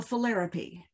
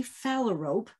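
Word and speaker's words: phalarope: before i say this when i was in high school i read a book called too late the philaripy at least that was how i was sure it was pronounced there was a student in our school named penelope so this had to be philaripy and i pronounced these birds philaripy until oh i've been burning for years decades and then a falarope showed up in a farm pond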